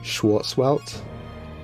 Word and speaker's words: Schwarzwelt: I know American, you would just say Schwarzwelt. But Schwarzwelt, that's more of a German style pronunciation, right?